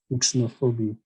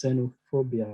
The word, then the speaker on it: xenophobia: ixnophone it's no phobia i'm sure some some some people would think this would be pronounced as ixnophobia no it's not it's still in english it's pronounced as xenophobia right you know um